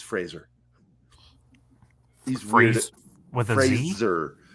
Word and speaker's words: Fraser: By the way, he gets mad if you say Fraser. It's Fraser. He's weird. With a Fraser. Z? Yeah, pronounce it like Fraser. Like laser Fraser. Or Razor.